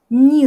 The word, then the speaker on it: не: Donc cette particule se prononce comme ni, elle est collée au verbe, donc ça veut dire ne pas faire quelque chose. Я не работаю, je ne travaille pas.